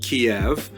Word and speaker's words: Kiev: be called an English Kiev which is closer to the Russian pronunciation because Russia dominated much